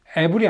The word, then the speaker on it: evil: All the evil in this world, 이 세상에 존재하는 모든 악은, evil이 아니고요. evil입니다. 발음 주의하세요.